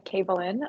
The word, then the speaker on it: Kabalyn: so my name is kabalyn um i tell people like a cave to help remember how to say it um excuse me so